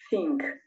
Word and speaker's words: think: Think. Como si esta T y H al juntarlo sonarían como una Z. Think.